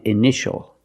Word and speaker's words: initial: We see T-I-E or T-I-A. It makes the sound sh, sh, like shoe and shirt. The soft sound sh, sh. Examples, patient and initial.